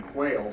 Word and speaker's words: Quehl: As Dick said, proper pronunciation is Quail.